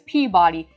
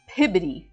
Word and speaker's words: Peabody: And there is a town in Massachusetts that is spelt exactly like this, which I've always known to be as Peabody, but no. In Massachusetts, it's Pibbity.